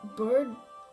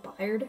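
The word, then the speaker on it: Byrde: Gorgeous now insertion for the drawer, Miss Maggie Bird? Bird? Okay. I remember I used to pronounce it Byard.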